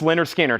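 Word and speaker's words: Lynyrd Skynyrd: up at the top we have Leonard skinnard pronounced Leonard skinnard here's another this is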